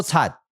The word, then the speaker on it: 擦: 真清楚，用粗、割、切，音就读作擦，警察的擦。